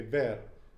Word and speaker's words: ver: those little things like when you say ver as opposed to bear yeah okay using the